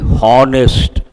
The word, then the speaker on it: honest: A lot of people say honest. It is not honest. Honest. H is silent.